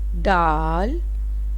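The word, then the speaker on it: دال: Dal, DAAL, dal. Dal start for English letter D. Softly sound is D. Dal, DAL, dal. Dal is start for D. Slowly hard dal, dal.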